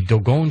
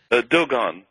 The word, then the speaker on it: Dogon: But how did you come across and am I pronouncing this tribe right, the Dogon tribe? Do they pronounce it like that? Dogon. Dogon, okay.